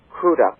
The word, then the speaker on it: Crudup: Billy Crudup was wonderful, or I believe he calls Crudup. Crudup, yeah. Crudup, yes, because he thanked the presenter for pronouncing his name properly.